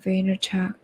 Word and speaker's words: Vaynerchuk: Oh wow, his name is so difficult to pronounce, his actual name, because Vaynerchuk. he's not Yeah, he's a Soviet. Gary Vaynerchuk. Ah, Vaynerchuk.